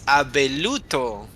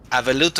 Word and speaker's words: Abeluto: It's Abeluto. I got Darn it. the Hola, mi amigo Abeluto. compadre. Abeluto. Abuelito is grandpa. Abeluto. Abeluto is the right name, the right way to say it.